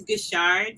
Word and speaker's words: Guishard: It's Guishard, so like not Guishard.